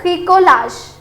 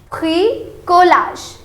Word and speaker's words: bricolage: Now this is le bricolage. Don't worry, I know the pronunciation is quite tricky here, but let's try to pronounce it one more time. It is le bricolage.